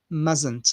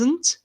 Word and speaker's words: mustn't: in the contracted form musn't musn't so you must mustn't mustn't notice that the t is not pronounced okay so it's mustn't